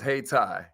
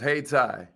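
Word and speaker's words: Hayti: it was actually pronounced hey tai it was actually pronounced hey tai y'all hey tai it's now part of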